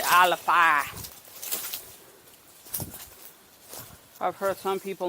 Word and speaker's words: Alafia: previous channels for alifia the local pronunciation for it is actually aleppa i've heard some people mispronounce it as alafia but technically it's of